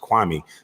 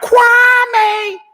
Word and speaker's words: Kwame: have told you that my name is pronounced kwame and not kwame but see you'd like